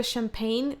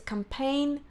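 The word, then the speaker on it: Campagne: next is sisly odang for some reason I was pronouncing o champagne but it's not it's campag cang pretty much it's the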